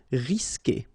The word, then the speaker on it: risquer: Okay, you don't pronounce the U, so risquer.